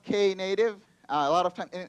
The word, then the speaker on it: Knative: native soak a native first things first it's pronounced Kay native a lot of times